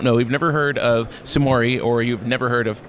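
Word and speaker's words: Sumuri: Yeah, it's Sumori. It's a Tagalog word. So I kept saying Sumori.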